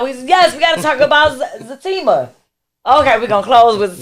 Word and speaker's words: Zatima: But if y'all, spoiler alert, if you have not watched, and I used to say Zatima, but it's Zatima. It's pronounced Zatima.